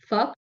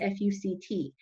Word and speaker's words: FUCT: Obviously his name sounds like a curse word, right? But it's spelled F-U-C-T.